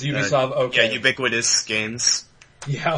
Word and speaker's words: Ubisoft: Yeah, because they think it's like, it's German, but no, it's French, so.